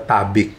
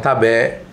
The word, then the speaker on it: tabik: kamus bahasa Indonesia itu resminya masuk bahasa Indonesia tuh kata-katanya adalah tabi' jadi kita bisa bilang tabek gitu Itu bisa bila Tabik